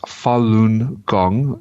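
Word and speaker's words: Falun Gong: like what is this Fallen gong you speak of it's a Chinese discipline deeply rooted in the Buddhist type of tradition of Martial Arts yoga Tachi and it's pronounced Fon gong it consists of moral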